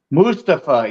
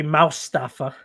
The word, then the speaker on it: Mustafa: You actually you pronounce it right. I forget to pronounce it right. I know how, but I don't. You know, I actually used to say Mustafa, but I actually worked with a Mustafa, and I just got in the habit of saying that because that's how he pronounced it, was Mustafa. I used to say Moustafa. Mustafa.